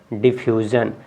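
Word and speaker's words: diffusion: पे बता रहे हैं, जैसे कि SIO के जस्ट पहले यू है ना, तो यू आपका क्या है? यू आपका एक वावेल है, स्वर है, तो स्वर की वजह से इसको ज पढ़ेंगे। क्या पढ़ेंगे? डिफ्यूज़न।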